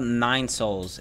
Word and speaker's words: Nine Sols: just got back uh this is called Nine Souls but the souls is spelled s o o l s and it is pretty